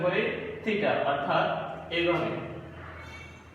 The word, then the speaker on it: থিটা: যারা 9 এ আছে নতুন পাইতেছো তারা হয়তো উচ্চারণ করতে একটু আর যে হবে প্রথম অবস্থাটা, এটাকে আমরা উচ্চারণ করি থিটা, অর্থাৎ এইভাবে। থিটা হচ্ছে এইভাবে, আমাদেরকে মনে রাখতে হবে এটা থিটা।